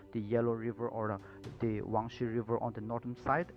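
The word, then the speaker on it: Huang He: this is pronounced as wangshi river according to the chinese pronunciation or it is also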